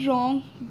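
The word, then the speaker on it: wrong: हैं, जैसे सॉर्ट, और यहाँ पे रॉन्ग W साइलेंट होता है, आंसर में भी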